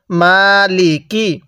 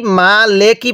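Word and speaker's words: مالك: পড়ুন বলুন মালিকি হ্যাঁ অনেকেই মা লেকি পড়ি ঠিক আছে মা লেকি পড়ি যদি মা লেকি পড়ি তাহলে কিন্তু পড়াটা সহি শুদ্ধ হবে না আর পড়াগুলো সহি শুদ্ধ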